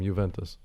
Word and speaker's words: Juventus: I prefer if you call them Juventus. Say what? Juventus. Juventus. It doesn't. You don't pronounce the G or the J.